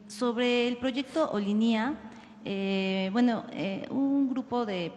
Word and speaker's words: Olinia: equipo revisara la pronunciación ellos afirman que la pronun es olinia o sea Ajá olinia bueno ser oline sino olinia sería cosa de que